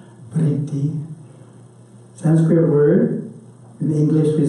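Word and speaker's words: वृत्ति: Starting the talk with the term vritti, which is easier to spell than to pronounce. Vritti.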